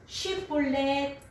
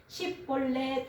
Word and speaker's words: 쉬볼렛: 발음을 쉬볼렛 이렇게 하면은 어떻게 살려주고 10골 그러면 죽이는 거예요. 그래서이 사람들이 발음을 잘 못 해 가지고 10볼렛 그렇게 한 사람은 몇 명이냐?